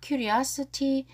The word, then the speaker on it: curiosity: 자, curiosity. 모른 단어 밑줄 걸게요. Curiosity. 발음이 curiosity. 자, I 액센트가 있고요.